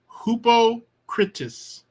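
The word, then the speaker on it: ὑποκριτής: critus hoopo critus this there's a vowel and there's a mark above it a rough breathing so this is rough this is a rough breathing mark so you're going to give it an H sound because you would be like you would look at it and be like rep see there's no h the H comes from the rough breathing so it's hupo hoopo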